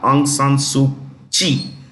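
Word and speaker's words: Aung San Suu Kyi: the state of Myanmar aung San suu Chi kyi is pronounced she is in jail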